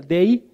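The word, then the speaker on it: δεῖ: necesario en el griego es de así se pronuncia de y significa que este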